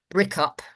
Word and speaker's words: BRICUP: BRICUP, as it's called, as its acronym is pronounced, is the leading organisation in this country on the question of academic boycott.